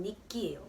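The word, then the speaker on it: 日記: 근데 일기라는 단어가 있죠. 그건 니끼예요.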